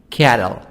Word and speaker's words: cattle: these are the words of exercise number 7 cattle t soft d cattle livestock corn corn wheat